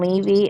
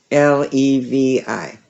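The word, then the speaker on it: Leavy: Levy is how you say the name.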